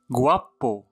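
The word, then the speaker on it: guapo: غوابو. غوابو. غوابو جميل، كما لاحظتم ننطقه في هذه الحالة غا.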